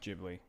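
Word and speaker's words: Ghibli: stud gibli yeah okay jibli GI jibli gibli jibli J sound even though it's a g okay it's a soft G do good I said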